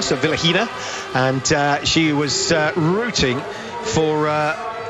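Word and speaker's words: Vilukhina: Well, we've just had an email in from Elena, not only telling us that you don't pronounce the K in the Vilakina, so Vilahina, and she was rooting for the Russians this afternoon.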